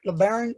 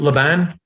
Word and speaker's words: Laban: them is that right lebaron you gotta say it right you mean laban laban the band yes